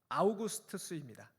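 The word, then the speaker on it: Augustus: 오늘 말씀에서 매우 중요합니다 아구스토라고 번역한이 이름은 라틴어 식 발음으로 아우구스투스입니다 아우구스투스의 어려서 이름은 옥타비우스로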